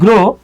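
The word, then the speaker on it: grew: এখানে একটা দুর্ভাগ্যের বিষয় হচ্ছে আমরা এই যে পড়ে আসছি গ্রো, এরপর এটারে পড়ে আসছি আমরা গ্রিউ। এটা খুবই দুর্ভাগ্যের বিষয়, আমি আজীবন গ্রিউ পড়ে আসছি, এটার উচ্চারণ হলো স্যার গ্রু।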